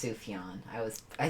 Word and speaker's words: Sufjan: It's pronounced Sufjan. I was I pronounced it Sufchan cuz it's really it's really Sufjan.